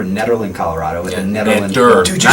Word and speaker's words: Nederland: With the Nederland.